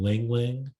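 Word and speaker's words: ylang-ylang: favorites is is taking lavender essential oil and lingling essential oils Ling Ling is spelled y-l-a-n-g-y-l-a-n-g I've been giving my husband nitric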